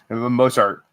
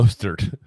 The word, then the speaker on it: Mostert: Yeah, Raheem Mozart. Mozart. Wow. No. Mostert. Yeah, I said it first. I said it right first.